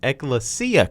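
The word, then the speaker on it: Ecclesia College: they played e now I kept saying it wrong on the broadcast but it's eklesia College they beat them 103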